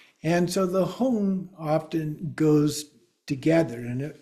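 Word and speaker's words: hung: often goes together and if we see a g at the end a lot of times and especially if it's an ng G together those are kind of pronounced as a singularity.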